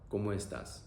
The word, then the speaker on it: ¿Cómo estás?: ¿Cómo estás? Pronunciation is also very simple. O, e, a.